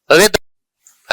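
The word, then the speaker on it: rhythm: Honour, honour के beginning में एच है लेकिन एच का प्रोनाउंसिएशन नहीं होता है। आर, ऑनेस्ट, रिदम, है ना, इन सारे वर्ड्स में यहां पे रिदम में यहां पे कहीं भी जो है वो एच का प्रोनाउंसिएशन नहीं हो रहा है।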